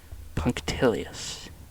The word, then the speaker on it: punctilious: Let me see how to pronounce it. Punctilious.